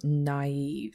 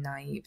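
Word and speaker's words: naïve: pronounce each vowel separately another example might be the naive you are seeing the A and the i in naive separately and so the umla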